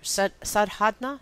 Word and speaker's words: Sadhana: We choose service as our sadhana. Is that what? How do you pronounce it?